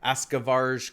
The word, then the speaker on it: Askavarg: a look at, and yes, it is pronounced that way, even though it's a G, and usually that's a hard G, like G, like Varg, but it's actually Varg.